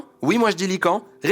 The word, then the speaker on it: Lycaon: dire * * En visite chez le tyran "Lycan", ou "Lycaon" selon les prononciations, il s’annonça comme le dieu Zeus.